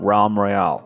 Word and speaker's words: Realm Royale: and I'm here today with another video of ROM Meriel for you guys yeah I said it right this time ROM Royale some people have been somehow complaining for the